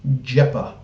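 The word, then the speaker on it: Xhepa: Albanian pronunciation of XH is Um, okay. Like a J. All right. So, trying to get his name correct. Denny Jeepa.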